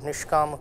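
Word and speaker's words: Nishkāma: The dot below S makes it a sh, and the line above A makes it a longer pronunciation of A, of A as A. So, it is called Nishkam karma.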